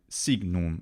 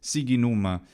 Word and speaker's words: signum: The GN ought to be more like signum, and I talk about this in the GN video. Signum. That would work. Instead, because you try and do this hard G in front of the N isn't a normal thing for an Italian to do anyway, so he comes up with this siginum, and it sounds pretty funny instead of signum.